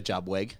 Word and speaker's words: JuBWeG: before we go thing, which bit of a jubwe.